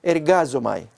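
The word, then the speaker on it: ἐργάζομαι: Pues miremos ahora, el verbo es ergazomai, se pronuncia así, yo trabajo, visto como obra secular en los otros textos del Nuevo Testamento.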